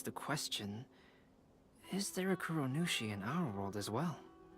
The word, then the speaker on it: Kuronushi: Kuronushi, yeah, that's how you say it.